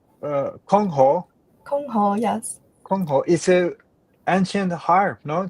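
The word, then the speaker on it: 箜篌: How you pronounce Kongho? Kongho, yes.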